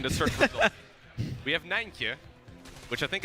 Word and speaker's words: Nijntje: Nijntje. Nijntje. There you go. You can pronounce it.